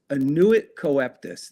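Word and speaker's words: annuit coeptis: So above that is the words annuit coeptus. That's how you pronounce it.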